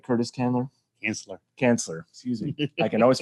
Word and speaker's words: Cansler: Cansler, excuse me. I can always find a way to mispronounce the name.